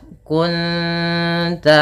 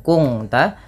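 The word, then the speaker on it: كُنْتَ: Cara membacanya bukan kung ta menyamarkan bunyi suara nun kepada ta dan ditahan bunyi dengungannya dua harakat. Kunta bukan kunta nanti berbeda bunyinya.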